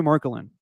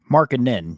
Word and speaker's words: Markkanen: a week ago Lori markelin or actually I'm butchering his last name how do you say his last name markkanen you were close Mar Lori marinin he